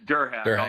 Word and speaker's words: Derhak: Durhack. It's Durhack. Durhack. I'll save you the embarrassment. All right. It's exactly how it's spelled.